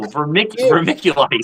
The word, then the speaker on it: vermiculite: No, vermiculite. Oh, vermiculite. My bad, bro. Okay, hold on. I want to get it right. Please teach me. How do you say Mick, yes. like Mickey Mouse?